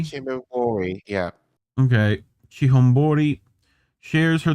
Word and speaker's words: Chihombori: Arikana Chihombori? Chihombori, yeah.